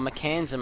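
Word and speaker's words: Mekansm: also got the Razor alty he's got that mechanism or mechanism as it should be pronounced he's going for that Agony scepter as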